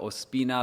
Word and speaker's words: Ospina: proud to be able to speak to one Aspina. Do I pronounce that properly? Very close. My name is uh Opina. That is my uh full full name, but uh it is Opina as I go by.